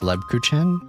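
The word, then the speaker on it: Lebkuchen: It's pronounced Lebuchen.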